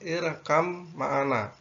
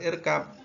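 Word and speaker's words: اركب معنا: Kemudian untuk yang atas irkam ma'ana atau irkab, kalau dalam tulisan itu irkab ma'ana, maka cara membacanya bukan irkab tetapi irkam ma'ana.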